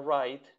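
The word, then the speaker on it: write: raid ya su raid recuerden que en la palabra raid no se pronuncia la w así solamente se pronuncia desde la guerra en adelante wright raid como cuando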